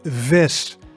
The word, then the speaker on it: vis: The V sound in Dutch is V, V. So in Dutch the word is vis, vis, and that means fish. And it's different, right? So like the English V in give, right? When we say I want to give you something, V, that V. But sometimes closer to the English F, especially at the beginning of words. So in this one, the V is quite a strong V, right?